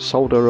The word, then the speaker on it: solder: of this is solder now I know my American friends pronounce it differently but we call it solder over here uh and I'm using